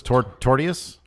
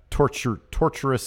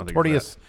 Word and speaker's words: tortious: That's called, how do you pronounce this? Tortious interference. Something like that. Torturous interference. Tortious. Yeah, I think it's and Tortious.